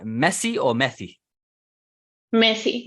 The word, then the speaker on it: Messi: Messi, because it's double S.